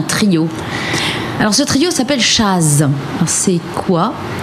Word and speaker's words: Chazz: Oui, c'est entre jazz, Voilà, entre chat et jazz. chat, jazz, Voilà. jazz. Chaz. Voilà, c'est Chaz.